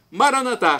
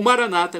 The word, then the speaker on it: Maranata: Jesus para o português Maranata como dizemos nós católicos com a tônica na última sílaba ou Maranata como dizem nossos irmãos separados os evangélicos ou protestantes não importa a pronúncia o significado é o mesmo vinde Senhor Jesus